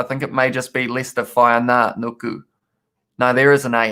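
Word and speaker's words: Leicester Fainga'anuku: I only learnt how to pronounce Lester Whaina Anuku very recently, and I think I still put an extra R in the middle of it.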